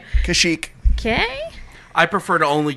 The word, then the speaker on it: Kashyyyk: wookie homeworld Kashyyyk it is chic and you pronounced it correctly Kashyyyk okay I prefer to only use the wookie